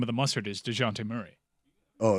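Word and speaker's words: Dejounte: for the people the uninitiated how do we pronounce murray's first name dejante murray okay still sounds like a mustard well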